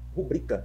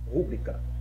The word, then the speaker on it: rubrica: Porque a forma correta é rubrica e não rúbrica, tá?